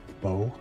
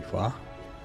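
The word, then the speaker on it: phở: Well, now I have just had a big bowl of homemade Fua, which nonVietnamese speakers will pronounce fo, but it's actually fa.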